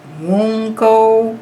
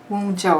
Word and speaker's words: Wunjo: And it says Wungo, W-N-G-O, and let's see what that's saying to us. Okay, Wungo, or Wunjo, I think is what the pronunciation is of that.